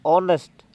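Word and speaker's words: honest: ए का साउंड तो यहां पे देखो ऑनेस्ट में स्पेलिंग इसकी एच ओ एन ई एस टी है ये नेस्ट नहीं बोला जाएगा यह नेस्ट बोला जाएगा नेस्ट तो आ का साउंड है ठीक है यह ए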